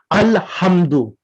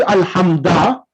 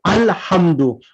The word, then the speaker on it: Alhamdu: for example, in Surah Al-Hamd, we say Alhamdu. We don't say Alhamda. We don't say Alhamdi. We say Alhamdu.